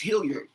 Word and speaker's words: Hillyard: But I believe it's pronounced Hilliard.